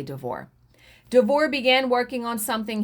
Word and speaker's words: DeVore: films and thrillers devore and i think it's devore it's spelled d-e-v-o-r-e could be devore i'm going to say devore devore began working on